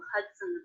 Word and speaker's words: Hudson: River the Hudson River did you notice how the second and unstressed syllable of Hudson was pronounced it's written with the letter O but there's the schwa vowel in there as an unstressed syllable it's very fast when